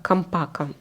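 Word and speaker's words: Champaca: Дальше я взяла от Левант Трусарди Чампака Эдиционе Мелесимата. Кстати, почему-то мне переводчик сказал, что Чампака читается по-итальянски как Кампака. Не знаю. Я на всякий случай прочитала Чампака.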